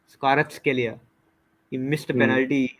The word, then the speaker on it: Kvaratskhelia: Shit, I forget how to pronounce this guy's name every time. It's Kvaratskhelia. Kvaratskhelia.